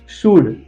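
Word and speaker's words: should: यू के पीछे जब एल आता है वहां पर भी एल को साइलेंट रखा जाता है। कौन से वो examples, let's see some example. कुड, शुड एंड वुड, ये तीनों मॉडल ऑक्सिलरी के वर्ब है।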